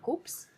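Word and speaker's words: Koops: Y luego hay una marca que hemos descubierto hace poco que se llama Coops. Sí, se escribe con K.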